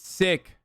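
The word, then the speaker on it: Sikh: the the indian government it's not pronounced seek it's sick sick you can say seek too i think the brit the british say seek shut up i'm saying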